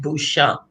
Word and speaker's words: Beauchamp: It should have been pronounced Beauchamp, but here in the South, everybody call it.